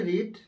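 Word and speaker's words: read: পড়ার ইংরেজি রিড, রেড, রিড, বানানটা একই, শুধু উচ্চারণটা আলাদা। তাহলে আই হ্যাভ রেড গল্পটি, I have রিড the story, I have রিড the story.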